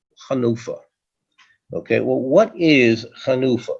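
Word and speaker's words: חנופה: Chanufa is often somewhat mispronounced as Hanifa, but the real correct pronunciation word is Chanufa.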